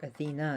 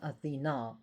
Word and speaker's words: Athena: She has Etruscan roots, Minerva, but she is the closest equivalent to Athena in that area, or Athena as we pronounce her in America, but she's pronounced Athena in Greek.